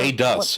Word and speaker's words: Aedus: Aid-ass. Very subtle, Otter. Very subtle. I liked him. He was he wasn't Oh, there. Aedus is how it's Yeah. pronounced. My bad. Yeah. Because he was aiding us.